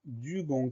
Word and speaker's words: dugong: Première syllabe du, D-U. Ensuite, la fin du mot, c'est gong. On va l'écrire G-O-N-G. On a deux fois le son G, du gong.